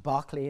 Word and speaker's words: Berkeley: One, for example, Lord Berkeley, which is spelt Berkeley, as in our college, pronounced Berkeley in England.